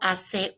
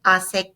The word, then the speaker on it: hace: Hoy hace calor. Hoy hace calor. Remember our silent H on hoy, silent H on hace, calor.